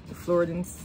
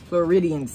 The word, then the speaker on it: Floridians: got in my tumultuous i can't remember how you pronounce it floridans floridians that's what it is i do but y'all